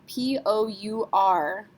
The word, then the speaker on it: pour: Here's another common one, P-O-U-R. Yes, we have to say this. R is a careful letter, C-R-F-L. So we would say pour.